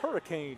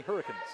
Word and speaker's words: Hurricane: be careful there Chris it's pronounced hurricane you know what I've never been to Utah so I'll take a a mulligan on that one Hurricane Utah not Hurricane Utah tune in next Saturday